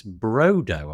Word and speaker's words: Brodo: It's Brodo, I presume, is how you pronounce that.